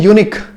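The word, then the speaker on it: unique: लेकिन हम क्या पढ़ते हैं? यूनिक। यूनिक कहते हैं, इसमें साउंड क्या है?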